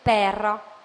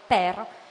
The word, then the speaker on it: père: la E per pronunciare, mentre il nome padre in francese si dice père, si deve aprire la E.